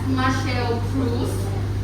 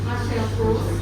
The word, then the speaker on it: Marcel Proust: And French is pronounced as Marcel Proust. Marcel Proust.